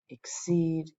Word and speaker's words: exceed: Consult, compile, exceed. They all have stress on the second syllable.